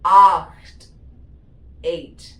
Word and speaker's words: acht: acht, spelling വന്നിട്ട് ACHT, acht, 8.